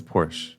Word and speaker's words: Porsche: It's not Porsche, friends. I don't know what it is. It's Porsche. Pch. Is it French? What is it? Or is it like Russian? Porsche.